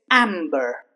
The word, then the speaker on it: amber: For example, amber. Okay. Even though the B comes after letter M, here the B will be pronounced. It's amber.